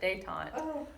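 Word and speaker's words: détente: that's one of the it's Dave Tom you pronounce it day time but this is the easing of relations so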